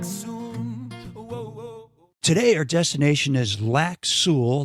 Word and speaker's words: Lac Seul: today our destination is lack Su that's spelled SE l in the town of